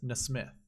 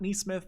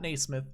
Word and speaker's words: NeSmith: the Golf Channel it's Nesmith no Smith miss myth that Nesmith not Naismith Miss Smith weird name